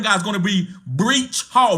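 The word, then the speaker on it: Breece: to say his name it's not breach it's Bree would go ahead and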